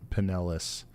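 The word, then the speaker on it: Pinellas: it shout out to pelis county home to Clearwater Beach just remember the emphasis is on the second p p NIS uh also some people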